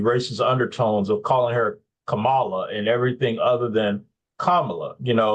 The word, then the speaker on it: Kamala: It's Kamala, like the punctuation, Kamala.